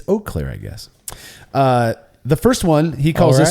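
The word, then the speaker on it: Eau Claire: names of the beer the city I live in is oir French for Clear Water anyways the a makes the long o sound oakair oh I've been saying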